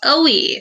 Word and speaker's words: oui: It's called OUI, so it's O-U-I.